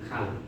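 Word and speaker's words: 칼: र झुन्डिएर आउँदा के हुन्छ? हामीलाई थाहा भइसक्यो, प्रष्टै ल उच्चारण हुन्छ। भनेपछि के भयो? खाल।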